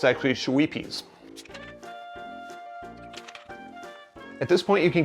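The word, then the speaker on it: Schweppes: It's not Shweepies like I've been pronouncing it. It's actually Shweepies.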